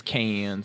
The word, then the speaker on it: Cannes: Cons? That's a Cannes. It's Con. Con. I think the French pronunciation is Con, but the American pronunciation is Cannes.